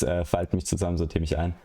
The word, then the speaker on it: Falt mich zusammen, sortier mich ein: Fault Mick zusammen sortier mich in. Yeah, so it's Falt mich zusammen, sortier mich ein.